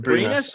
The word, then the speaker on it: Brynäs: How do you pronounce it? Brynäs.